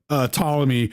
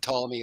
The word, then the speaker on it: Ptolemy: And when people start talking about Ptolemy, dude, there's literally a giant fucking P before that T. Why? Where's the quality assurance man of Stone to be like, it's Ptolemy, guys?